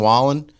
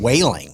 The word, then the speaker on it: Wallen: So Entertainer of the Year went to Morgan Wallen, and they had Jeff Bridges up there, and he mispronounced his name. He called him Morgan Whaling.